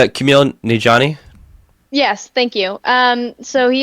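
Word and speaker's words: Kumail Nanjiani: I can't pronounce this man's name. Can Yeah, it's Camille Nijani.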